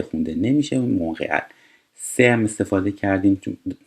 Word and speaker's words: Montréal: ببینید این تلفظش مونرئال هستش. ت خونده نمیشه. در صورتی تو انگلیسی یا تو فارسی مثلا ما میگیم مونترال، یه شهر توی کاناداست.